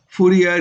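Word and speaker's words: Fourier: you know like Bo the French pronunciation of fuer is Fu so you can also call it Fu number but usually we are not habituated with uh Fier so better to call it fua number because we everywhere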